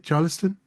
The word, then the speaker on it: Charleston: Bethany, I paused because I was just saying if I said Charleston, this is a show and this is going to happen. I do apologize, but did I say it right, Charleston?